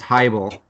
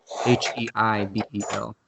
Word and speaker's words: Heibel: It's Heibel, not Heibel or Heibel or whatever. So Heibel, that's how you spell it.